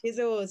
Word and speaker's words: Azores: So that race then meant you've booked your tickets now to go to Azores. Is that how you say it? Azores, yeah.